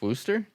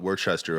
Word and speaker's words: Worcester: not trying to create that's pronounced wooster what talk to them about it they only yes people were like don't call it worchester or else they'll know you're not from there but i mean clearly